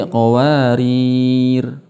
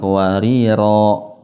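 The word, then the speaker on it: قواريرا: mustadir bulatan sempurna Jadi kalau berhenti qowarir bukan qariro jadi ketika berhenti tidak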